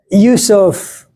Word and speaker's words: Yousef: How do you say it? We say it better. Yo. Ysef.